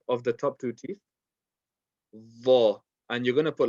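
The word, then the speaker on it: ظ: I would rather write it as DH because it's more of a DH than a Z.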